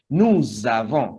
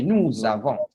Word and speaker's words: nous avons: And here it starts with the A, so the sound here will be Z. So we are going to have Z sound, and it will be pronounced like this. Nous avons.